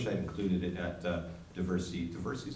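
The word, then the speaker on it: Diversey: I wish I had included it at diversity diversity is how you pronounce it diversity Harbor diversity it is Chicago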